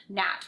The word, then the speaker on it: gnat: And there's also those tricky words where G is silent, like in the word gnat, where it comes in front of an N, or where it makes